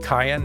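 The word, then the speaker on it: Cyan: also goes with like the hard like k sound Cayenne I'm I am almost positive that Cayenne is correct for this guy but old habits it's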